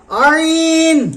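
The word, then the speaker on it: عين: ত ত জ জ আইন আইন আইন আইন কন্ঠনালীর মধ্যখান হইতে উচ্চারিত হবে আইন আইন গইন কেমন উচ্চারণ হবে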